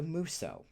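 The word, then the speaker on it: musou: definitely know and that is known as the muso uh it's called out because it's spelled m u s o u in English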